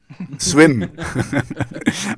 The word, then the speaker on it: SWMM: name of your band how would you say it swim i have a band